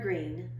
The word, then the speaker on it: Greene: name is gooney bird green that's green with a silent e at the end and